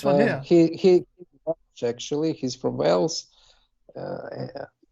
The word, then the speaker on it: Wales: yeah actually he's from Wales uh how do you say it Wells yes Wales you've got to be careful you corrected yourself very quickly well done yeah